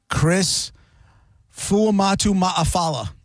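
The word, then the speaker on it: Chris Fuamatu-Ma'afala: I remember there was a guy that played for the uh Steelers, Chris Fuamatu Maafala.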